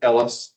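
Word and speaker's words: Helwys: He was then convicted of his selfappointed baptism and had his best friend Ellis, that's how you pronounce his name, rebaptized him.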